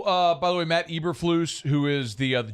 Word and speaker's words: Eberflus: e nope just e spell it e b e r that's ebber f l u s e breflus that's eberflus um it depends on the